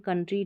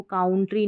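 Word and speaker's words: country: तो ऐसे आप इनको अभी आपने पढ़ लिया जैसे मैंने पढ़ाया यंग, कंट्री, ट्रबल, डबल तो आप कंफ्यूज नहीं होंगे। इसको काउंट्री नहीं पढ़ेंगे, ट्राउबल या डाउऊबल नहीं पढ़ेंगे।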